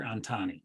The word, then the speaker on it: Antani: of starting and scaling up i may have butchered your name but last name is antani dr antani correct karthik antani arctic antani so um kartik